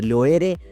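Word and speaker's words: Loire: बोलते हैं उर्दू में और लोए जो कि लोए है और राईनी जो है वो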